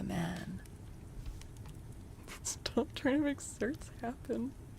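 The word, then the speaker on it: certes: slay the Then oh it's Latin and pronounced certis. Well that's no no wrong. Definitely just cert.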